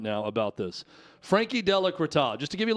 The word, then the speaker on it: Frankie Della Creta: Example A is a person called Frankie Della Creta. It's spelled with a Z at the end, but in their bio on Twitter, it does say that the Z is silent.